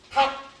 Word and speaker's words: 닭: 닭 어디께 발음난다? 뒤에 끼.